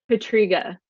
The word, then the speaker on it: Pietryga: how to say your last name could you pronounce it for me please Patrica no one knows it's okay I love that